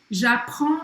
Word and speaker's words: j'apprends: J'apprends le français avec afrancesados. Então, j'apprends. J'apprends. Tem um S aqui, mas não se pronuncia.